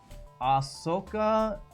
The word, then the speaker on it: Ahsoka: I said it right the first time. With the SH sound, even though the H is before the S, I don't know. Ahsoka is right, but it